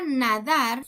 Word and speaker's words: nadar: En la palabra nadar tiene la sílaba tónica en la última sílaba, entonces es una palabra aguda.